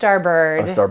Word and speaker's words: starboard: like it's pronounced starbird, but it is spelled starboard.